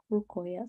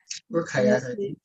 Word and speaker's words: Rukayat: Rukayat, is it Rukayat or Rukoyat? So, Rukayat, I know there's this pronunciation. It's Rukayat. Rukayat.